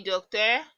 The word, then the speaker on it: docteur: If you remember our coiffeur, we can see that it's the same pronunciation. Docteur, coiffeur. Okay, so if we had taken notes of this pronunciation there, it would be easy for us to pronounce this. Coiffeur, hairdresser, docteur, doctor.